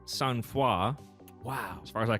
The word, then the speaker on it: sangfroid: All right, the word is, it looks like it says Sangfroid. Yeah, Sangfroid. It's French. It's pronounced Sangfroid.